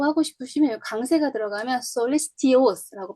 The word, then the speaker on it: solicitous: 만약에 tious라고 하고 싶으시면 여기 강세가 들어가면 solicitous라고 발음할 텐데 여기 강세가 안 들어가면 여긴 li에 강세가 들어가죠. solicitous 이렇게 발음이 되죠.